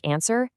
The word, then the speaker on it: answer: And hey, keep an eye out for a few extra tricky written words that hide a silent W, like answer and the number two.